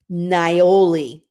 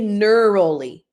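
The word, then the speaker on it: niaouli: to mention two others nioli okay now I didn't say neurally okay I said nioli so I'm actually going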